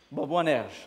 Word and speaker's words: Boanerges: J'ai un accent là sur Boanerges. Est-ce que c'est ça la prononciation? Il y a un accent sur le dernier E. Boanerges, voilà, fils du tonnerre.